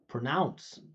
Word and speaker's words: pronounce: It's not pro. It's pr pro where this is the important part. Go up into the pitch pronounce. You say it pronounce. Look all of these first syllable is unstressed and they're all schwas.